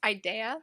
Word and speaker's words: Ideaya: So help me pronounce this. Ideaya? It's Ideaya.